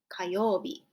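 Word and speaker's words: 火曜日: Kayobi, Tuesday.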